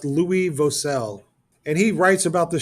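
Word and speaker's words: Louis Vauxcelles: His name is pronounced Louis Vosel.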